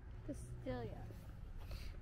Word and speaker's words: Castillo: It's not pronounced that way. Double L is E-E-L. Castillo.